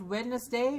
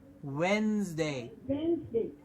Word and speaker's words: Wednesday: week the day of the mid week is Wednesday not Wednesday but Wednesday absolutely and what we have to remember here